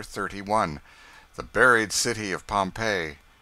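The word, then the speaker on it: Pompeii: of Fame the buried city of Pompei they pronounce it Pompei I always had an idea that you went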